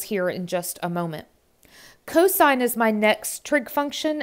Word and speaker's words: cosine: Again, we still pronounce that as cos or cosine.